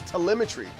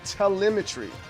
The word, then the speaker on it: telemetry: Oh, it's telemetry. It's It's spelled like elementary. So, it's tele. It's a telemetry.